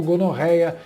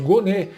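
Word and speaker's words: Gonet: dias para que Paulo Gonorreia, ah, desculpa, perdão, errei a pronúncia, é Paulo Gonê, o atual chefão da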